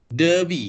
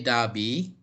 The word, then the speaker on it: Derby: Okay, the British will say Derby.